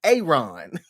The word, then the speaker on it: Aaron: It's not Aaron, Aaron. It's the long A, Aaron.